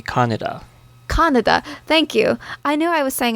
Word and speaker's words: Kaneda: Well, in English, for the longest time, people would pronounce it how it looks, Kaneda. Yes, and the Japanese pronunciation is supposed to be Kaneda.